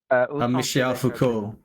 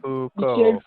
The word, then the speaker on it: Foucault: How do you pronounce Michael Foucault then? Michel Foucault. Pourquoi êtes-vous tous les chats? Michel Foucault.